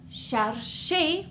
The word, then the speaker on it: chercher: If we had a word like chercher, we have two syllables. We have char and she.